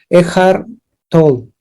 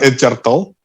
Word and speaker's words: Eckhart Tolle: Eckhart Tolle. Eckhart Tolle. Una madre así, No no se sé llama cómo. no se llama Edgar Toll.